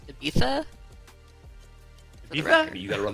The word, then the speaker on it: Ibiza: I have to say, I think it's pronounced Ibiza.